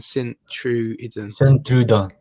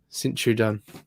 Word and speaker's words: Sint-Truiden: How do you pronounce that team, Dan? Sint-Truiden. Sint-Truiden.